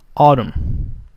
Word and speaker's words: autumn: The N is silent, so we say autumn. Autumn.